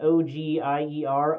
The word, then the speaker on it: Ogier: called an ogier, and in the captions it's spelled like O-G-I-E-R, ogier, but, sounds a lot like ogre to me, but doesn't look like